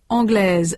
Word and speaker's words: anglaise: In sound, the feminine forms anglaise and suédoise have a final consonant z that the masculine anglais and suédois do not.